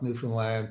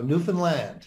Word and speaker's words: Newfoundland: So I grew up in a little place called Flat Rock, Newfoundland, population 400.